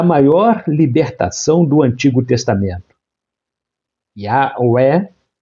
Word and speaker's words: Yahweh: Quando o liam, criaram o costume de escrever Hashem, ou seja, o nome, a pronúncia original se perdeu, mas a forma mais aceita no meio acadêmico é Yahweh.